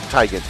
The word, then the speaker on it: Teigen: But we pronounce it Teigen.